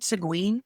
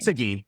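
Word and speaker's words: Seguin: I was looking at is it Siguen? How do you say that town name? Sigin.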